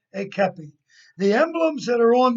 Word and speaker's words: kepi: The hat that I'm wearing is called a kepi. It's pronounced, it's spelled Kepi. It's a French word that means cap.